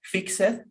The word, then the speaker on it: fixed: yes so is not fixed we pronounce them in past tense with the letter t fixed i fixed my card